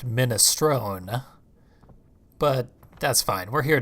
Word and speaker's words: minestrone: on you want some unis stroked me an Italian person would have pronounced it minestrone but that's fine we're